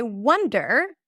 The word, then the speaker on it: wonder: Wander. That's an a sound. Wander. Wander. Wonder. Wander. So the one spelled with an O is a cup sound.